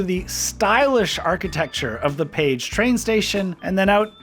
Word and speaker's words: Pécs: It's pronounced Pécs, not Pex, by the way.